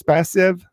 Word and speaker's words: Spasev: and north macedonia um coach spacey am i saying that right it's passive yes absolutely and we're not 10 years you know how to say it now yeah well i talk about you a lot but i'm not sure i'm ever saying your name correctly it is correct all right so coach